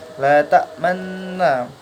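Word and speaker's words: لا تأمنّا: Nah, ta'manna di sini adalah gharib ismam, di mana cara bacanya harus mencucu. La ta'manna.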